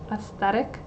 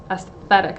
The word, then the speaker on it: aesthetic: with a cute aesthetic aesthetic that word is hard for me i had to re-record a part because i kept saying aesthetic i kept pronouncing the th aesthetic my brain doesn't